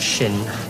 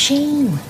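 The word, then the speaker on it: Sian: What, shin? It's pronounced sheen.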